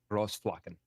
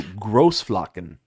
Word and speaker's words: Großflocken: That B is actually a double S. Is what you're looking at. It's Because it doesn't connect. So how is it pronounced? Großflocken.